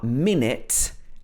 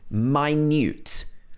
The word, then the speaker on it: minute: which are very confusing uh minute and minute so you've probably heard of minute but you might not have heard of my newt so let's have a